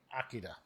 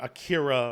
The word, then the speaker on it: Akira: But uh what has been going on lately is you know the movie Akida or Akira or however you want to pronounce it. I pronounce it the way it's supposed to be. Akida.